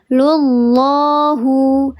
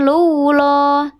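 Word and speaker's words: الله: Dibacanya dia lullah. Lullah bukan lulah.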